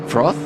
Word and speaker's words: froth: heard of that term froth froth it's it's kind of spelled like f-r-o-t-h but they in Australia you sort of say froth f-r-o-f-f and that means you're